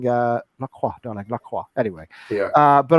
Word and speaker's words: LaCroix: I'm drinking a LaCroix, which is a bit like an IPA, but with no alcohol in it.